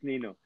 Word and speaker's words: Ninu: correctly new name yeah yeah perfect nino it's nino so um yeah it's the world's first smart